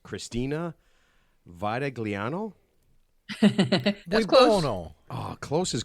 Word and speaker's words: Vitagliano: How do you say your last name? Vitaliano. Like Italiano, except it's Vitaliano. There's a G in there, though, right? Silent. It's a silent.